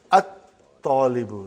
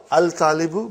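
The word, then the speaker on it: الطالب: And then at-talibu, not al-talibu, but at-talibu.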